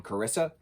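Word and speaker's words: Carys: basically he said to pronounce it as caris um how we would say like the name carissa um but without the uh so caris but in the book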